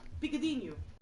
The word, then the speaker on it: picadinho: Picadinho. Picadinho? Yeah. Like the race of man. Maybe you're not pronouncing it. Maybe I'm not. Picadinho, but that's in Portuguese. That's in Portuguese. Portuguese is a little different.